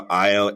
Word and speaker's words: Ayo: And there's plenty of people that I know, like Ayo, who've got this experience of helping people get through different issues that they've had.